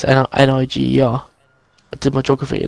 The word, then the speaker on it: Niger: What, Niger? That is a. You're borderline in it here. But there is an African country called Niger. It's N-I-G-E-R.